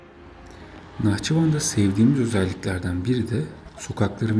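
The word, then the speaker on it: Naxçıvan: konuşmuştuk ama bundan sonra x'lerin He diye okunduğunu anladık Hatta dikkat ederseniz Nahçıvan yazarken o h de x diye yazılır aslında ama e diye okunur o şekilde bunu da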